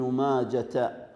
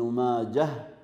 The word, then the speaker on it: ماجه: وماجه تنطق بالهاء لا بالتاء، فلا نقول ابن ماجة بل يسكت عليها فيقال خرجه ابن ماجه، هكذا ينطقها أهلها، هكذا ينطقها أهلها، وهو لقب لوالده وقيل اسم لأمه.